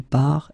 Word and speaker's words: part: So the first thing that you've got to keep in mind, you've got this final S, final S, final T, but then you don't pronounce them. So phonetically, je pars, tu pars, il part, elle part, the same form.